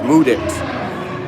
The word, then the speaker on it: Mudit: My name just rhymes with music. My name is Mudit.